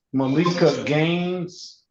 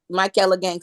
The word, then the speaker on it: Michaela Gaines: This is gonna be the state of Michigan versus Malika Gaines. Michaela Gaines, give me the correct pronunciation. I'm sorry. You said it, Michaela Gaines is correct, Judge.